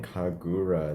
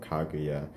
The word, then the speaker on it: Kaguya: to say is uh i've been saying kagura the entire time instead of kaguya it's the name of